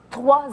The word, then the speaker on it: Troie: Trois comme 3.1416. Trois comme le cheval de Troie. Ben oui, ça tombe sous le sens, ça aussi. Ça s'écrit avec un E, mais c'est trois quand même.